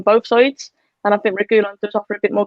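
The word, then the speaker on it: Reguilón: Saeed, by the way, saying Reguilon, apparently is how you pronounce it, will be the best left back in the world soon.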